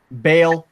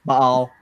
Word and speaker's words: Baal: Well, anyways, Baal, Baal, whatever, both pronunciations are acceptable.